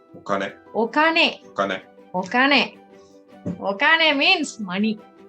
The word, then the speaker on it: お金: this kanji, and this is how it is pronounced. お金、 Okane.